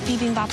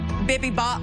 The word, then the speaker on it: bibimbap: and she's not going to have enough time to finesse them all, because presentation with that bibimbap is key.